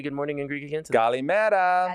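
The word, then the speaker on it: Καλημέρα: Kalimera. Kalimeras. Kalimeras. What? Nope, no S.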